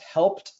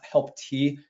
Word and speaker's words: Helped: It's pronounced Helped, not Help-T.